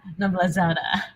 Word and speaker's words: Noblazada: 皆さん、イバちゃんの名前、これ一緒に発音しましょう。この前言った時にちゃんと満点私も取れたのでみんなで練習しましょう。Eva Noblazada.